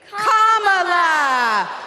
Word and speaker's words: Kamala: Then you say la like la la la la la. Put it together and it's 1, 2, 3, Kamala.